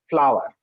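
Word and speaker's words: FLWOR: following expression defined by the acronym floor pronounced by flower right for let order by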